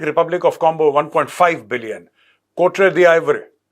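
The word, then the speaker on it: Côte d'Ivoire: South Africa 6 Arab, Nigeria 3 Arab, Egypt 2 Arab, democratic Republic of Congo 1.5 billion, Kotre the आइवरी, ये this is द आइवरी coast, this is a French pronunciation, 1 billion, Kenya 1 billion, Ethiopia 800 million.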